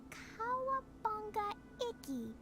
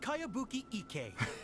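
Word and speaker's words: Kayabuki Ikkei: By Kawabunga Iki. Cowabunga. Mia, this is a really strange name. Who's this Kawabunga? It's pronounced Kayabuki Ike.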